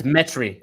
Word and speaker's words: Metry: name is it metry dmitry i want to say it right it's the first one it's metry it's like geometry but without the geo metric okay mr metric